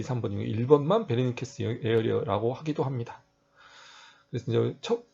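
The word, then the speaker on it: Wernicke: 독일이니까 웨르니케가 아니라 베라고 V자 발음이에요.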